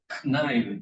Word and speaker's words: cn: This Sn is, some people call it the snine of x. And the Cn would be the knine of x.